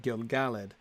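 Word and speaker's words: Gil-galad: Typically in Elvish names, the stress is on the second syllable. Exactly. Like you might think Imladris, except not. Clearly not in that line.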